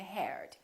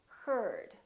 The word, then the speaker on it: heard: say grandma say grammar or ei R for example learn and heard don't say learn and here'd it's learn and heard also I are for